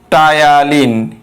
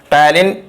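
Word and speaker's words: ptyalin: টায়ালিন English বানানটা একটু দেখো, এক্সেপশনাল বানান, পি দিয়ে শুরু। টায়ালিন বানানটা শুরু হয় পি দিয়ে, টায়ালিন বা স্যালাইভারি আলফা অ্যামাইলেজ, আর একটা হলো মল্টেজ।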